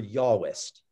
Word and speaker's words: Yahwist: It's called the J source because it stands for Yahwist, as in J is pronounced with a Y sound, Yahwist, which is based on the